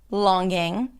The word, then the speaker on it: longing: G in the spelling a lot of people pop the G sound at the end of the word longing. singing when in fact these are all NG consonants singing, longing, and ping.